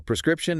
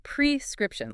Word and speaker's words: prescription: The pronunciation has a strong pre sound at the beginning. Prescription.